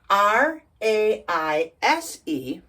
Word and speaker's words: raise: a i vowel combination but the s e is a z so it's raise raise what's raise well